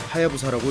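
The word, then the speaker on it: 隼: 사이드 페어링을 가득 채운 한자는 송골매 준이라고 쓰고 하야부사라고 읽습니다. 송골매는 높은 고도에서 시속 300km가 넘는 속도로 하강해 먹이를 사냥하는 세상에서 가장 빠른 새입니다.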